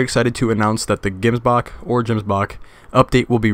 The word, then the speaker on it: Gemsbok: exciting announcement for the games Bach or gyms Bach I'm gonna through sure how to pronounce it exactly but I believe it's gyms Bach but you know we